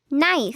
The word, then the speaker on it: knife: nup can you see the K is silent NP can I write